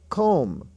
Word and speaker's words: comb: Comb, C-O-M-B, stands for, MB stands for M, etc.